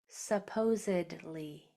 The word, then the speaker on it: supposedly: Your word is supposedly. Supposedly. Go ahead and spell it on your paper and then in the Q&A for me so I can see how you did.